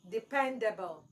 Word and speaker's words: dependable: the correct pronunciation is Dependable depend Dependable dependable so your stress should be on the second syllable pen where we have option